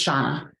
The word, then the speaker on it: Shauna: Yeah, thank you, Shana. And did I say that right? Is it Shana? It's Shauna.